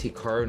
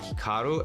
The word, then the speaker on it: Hikaru: to pronounce Hikaru nak now even myself when I pronounce my name it's definitely more Americanized versus Japanese certainly I was pronouncing it correctly it would be more like Hikaru as opposed to Hikaru but I've spent so